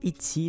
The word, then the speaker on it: Etsy: site en question c'est le site itsy donc ça s'écrit Etsy tu connais peut-être ce